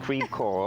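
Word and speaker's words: Creve Coeur: How do you say it? Creve-Coeur. Creve-Coeur, okay, because French it would be Creve-Coeur.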